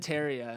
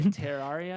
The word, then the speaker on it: Terraria: did I saw that I said teria and they're like ter how do you say Terraria uh ter Terraria Terraria yeah like like like Terror but ter Terraria ter ter Terraria whatever let us know